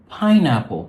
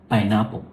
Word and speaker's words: pineapple: And we stress the first word, not the second. So this is a pineapple. Thank you. Not pineapple. Not pineapple. Pineapple.